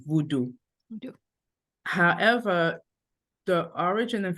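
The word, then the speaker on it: Vodou: the the the spiritual tradition in Haiti is pronounced as Haitian Voodoo v o d o u Voodoo vo however the origin and Foundation of that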